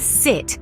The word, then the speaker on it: sit: sound as in sit French speakers often pronounce it like seat which can lead to some amusing misunderstandings to correct this try to shorten your eye sound it's sit not seat the vowel